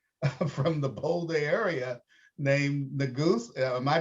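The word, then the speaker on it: Neguse: a young congressman from the bold area named the goose am i pronouncing that correctly right yes yeah and he's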